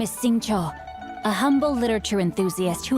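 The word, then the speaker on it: Xingqiu: leash where are my manners my name is sing Cho a humble literature Enthusiast who happened to be passing by sing Cho oh gosh I've been pronouncing it wrong in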